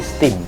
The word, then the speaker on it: STEAM: itu kurang satu sebetulnya ada a-nya jadi bacanya bukan stem tapi steam science technology engineering or